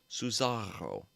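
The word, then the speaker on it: Susarro: Cesaro. Uh, sound like Bizarro. Not going to lie. Yeah. How's it spelled? It's, uh, here. I'll save. Uh, Suzaro is how it's spelled. S U S A R R O Suzaro.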